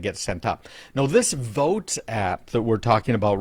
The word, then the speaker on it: Voatz: It's called Voatz, V-O-A-T-Z is how they spell it.